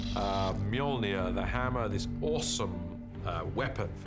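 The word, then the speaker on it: Mjölnir: is to work out how to pronounce it which is mjolnir uh in our movie at the moment until somebody corrects me i'm sure they will uh mjolnir the hammer this awesome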